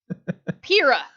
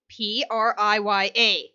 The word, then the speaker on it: Priya: Kira.